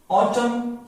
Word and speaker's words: autumn: गया तो फिर क्या होगा एन इज not pronounced, ऑटम एन इज not pronounced.